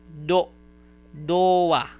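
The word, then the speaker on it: ドア: Game console or any game just game and then do it is to but if you put 10 10 it is pronounced as doa which means door.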